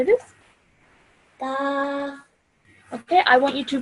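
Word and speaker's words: ك: is this over here, some some students might pronounce these both the same, but we need to now realize that both of these are pronounced differently. This over here is a thick sounding letter. This is a thin sounding letter. So this would be said as qaf, and this would be said as kaf.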